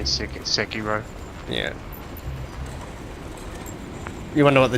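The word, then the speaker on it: Sekiro: I installed SEO today how do you say it Sako sakiro they're both are fine I say sakiro yeah you wonder what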